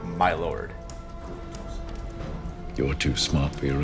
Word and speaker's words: my lord: This was the usual pronunciation until about the middle of the 20th century, in courts in which the judge was entitled to be addressed as my lord. However, it is a pronunciation which has now become obsolete and no longer heard in courts. She taught me how to speak the modern pronunciation is my lord.